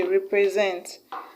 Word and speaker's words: represent: option a competence B represent six levels until qualify the cold answer is option B represents because represent has is stress on the last level that is on SD